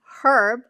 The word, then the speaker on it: herb: And in my defense, herb I discovered that is the British pronunciation.